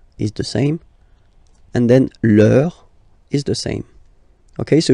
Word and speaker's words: leur: And then leur is the same.